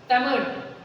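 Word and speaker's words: तमिऴ: जैसे पहले तमिल ऐसे लिखते थे, तमिल, अब कैसे लिखते हैं, ये विशिष्ट व्यंजन है, तमिल, तमिल, ल, न इसका उच्चारण पूरा ल है और न ही ड़ है।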